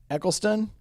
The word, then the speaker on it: Eccleston: end my favorite doctor who is actually Chris Eccleston I think that's how you say his name